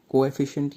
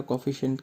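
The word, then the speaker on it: coefficient: कोएफिशिएंट या कोफिशिएंट कह देते हैं, प्रोनाउंसिएशन में फ़र्क है।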